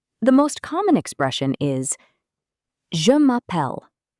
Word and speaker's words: je m'appelle: The most common expression is je m'appelle. Pronunciation? Je m'appelle. Je m'appelle means my name is.